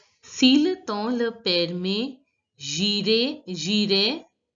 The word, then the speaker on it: j'irai: Si le temps le permet, j'irai. The last S is not pronounced, and you all know that AI has to be pronounced as A. So it becomes j'irai, faire, yun.